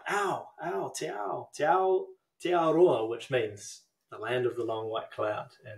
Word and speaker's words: Aotearoa: Aotearoa. Aotearoa.